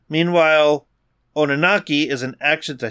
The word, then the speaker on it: Oninaki: Oninaki, thank you. No, the second I said it, I'm like, I know I butchered that.